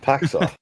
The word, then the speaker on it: Paxo: Paxo, but Paxo. Paxo. I don't think it's right to say